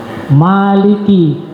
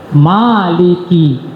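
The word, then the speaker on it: مالك: Karena malaikat Jibril, ya, Maliki. Nah itu seperti saya terangkan tadi, jumhur ulama bacanya 2 harkat. 2 harkat itu artinya 1 alif. Maliki. Tapi ada ulama yang membaca dengan Malik 1 harkat saja.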